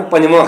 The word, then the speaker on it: ਪੰਜਵਾਂ: ਉਹ ਪੱਪਾ ਜੱਜਾ ਬੱਬਾ ਕੰਨਾ ਪੰਜਵਾਂ ਅਸੀਂ ਉੱਪਰ ਟੀਪੀ ਅਸੀਂ ਕੋਲ ਵੀ ਲਾਉਂਦੇ ਹਾਂ ਨਾ, 5 नहीं पढ़ते, क्योंकि वो शुद्ध उच्चारण पंजवां है।